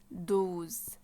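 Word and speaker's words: douze: طب رقم 12 اسمه دوز دوز نفس الكلام بتضم بقك وتقول دوز رقم 13 اسمه يز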